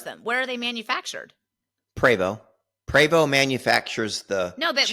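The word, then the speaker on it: Prevost: thought it was pronounced Provost but I'm saying that wrong say it how do you say it and this is p r e v o s t preo preo yeah the t is silent what kind of a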